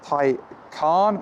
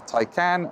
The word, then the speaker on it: Taycan: Let's talk about the name so this is the Porsche thai-khan not the tycan not the toucan nothing like that thai khan there's even a video